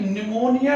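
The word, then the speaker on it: pneumonia: तो स्टूडेंट एक आप लोग ये तो जानते हैं कि निमोनिया में पी साइलेंट आता है, और निमोनिया इस रोग का अगर बात हम करें तो ये एक जीवाणु जनित संक्रामक रोग है।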